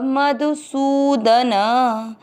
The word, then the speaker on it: मधुसूदन: च में अ मिक्स करेंगे च, म में अ मिक्स करेंगे मधु। सु की मात्रा बड़ी, लंबा खींचेंगे सु। द न दोनों अक्षर पूरे, दोनों में अ मिक्स करेंगे सूदन। दूसरा चरण रिपीट। द्रोणम च मधुसूदन।